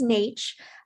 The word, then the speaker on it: Netsch: i'm uh yes my last name is nate uh rarely does it get pronounced right so it's all good and